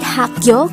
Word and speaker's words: 학교: korean noun for school the word hakkyo could be divided into two syllables hak is formed